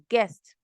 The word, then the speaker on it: guest: H is silent ghost and then guest the U is silent we can't say guest of course is guest so the U there is silent it's just a g